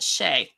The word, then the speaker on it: chai: our It's pronounced, she taught us it was pronounced Shay.